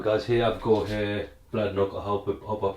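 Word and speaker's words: Bladnoch: drain all right guys here i've got here blood knock i'll help hop up pronounce it correctly so this is called bladlock samsara this one here i think this is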